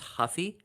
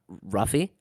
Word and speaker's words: Ruffy: G uh yeah Mauricio it's pronounced Huffy not ruffy and then James [